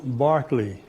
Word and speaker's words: Berkeley: So I had to tell them that Barclay is the old English pronunciation for Berkeley.